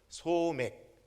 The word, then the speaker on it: 소맥: 대개 보리는 대맥이라고 부르고요, 밀은 소맥, 발음 잘 하셔야 됩니다. 소맥이 아니고 소맥입니다.